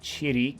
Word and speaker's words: chiri: is dust or garbage chidi is our other pronunciation that's right chiri gomi kirigomi a sparrow